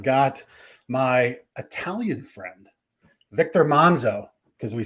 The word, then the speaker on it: Manzo: my Italian friend Victor Manzo because we said the pre-show well how do we say your name is it Manzo Manzo he says if you're Italian you say it monzo so if I say my